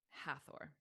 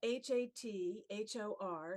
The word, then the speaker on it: Hathor: because it's spelled uh h-a-t-h-o-r so we want to say in English hathor we want to make the th a sound however as you know